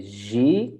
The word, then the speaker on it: ziek: So we say ziek, it's a bit longer, right?